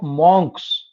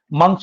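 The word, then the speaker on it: monks: मॉन्क्स किसको बोलते हैं, जो साधु होते हैं, मंक बोलते हैं एक्चुअली। मैं भी मॉन्क तुम लोगों को स्पेलिंग याद कराने के लिए कई बार गलती बोल देता हूं। मंक्स होते हैं, ग्रुप ऑफ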